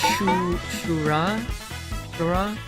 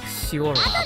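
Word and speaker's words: Syura: I know her name is like spelled S-Y-U-R-A, but in Japanese, it's S-H-U is how you would pronounce it, like so. Shura? The way it's spelled, you might pronounce it like Siora, but...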